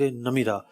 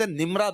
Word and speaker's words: نمرہ: اچھا اس کو لوگ مسجد نمرہ بھی کہتے ہیں، تو ایکچوئل لفظ نمیرہ ہے. میں بڑی جو نا کوشش کے ساتھ اس کا تلفظ دیکھ کر آیا تھا. 2-3 کتابیں میں نے نکالی اور جناب ان سے باقاعدہ تلفظ دیکھا، اعراب دیکھے. نمیرہ لفظ ہے، ایکچوئل نمیرہ ہے. نمیرہ ہے، میم کے نیچے زیر ہے.